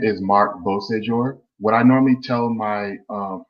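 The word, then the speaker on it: Beauséjour: When you break it into 3 syllables, it becomes easier to say. It just means beautiful day in French. So Beausejour.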